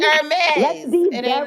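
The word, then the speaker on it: Hermès: You better pronounce it the right way too. Okay. It's Hermes.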